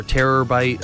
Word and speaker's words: Terrorbyte: a terabyte all right or terror-byte I guess is the way that you pronounce it but yeah guys so